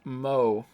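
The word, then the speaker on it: moe: entertainment centered around characters who possess such traits pronounced Mo all right we're not special as we like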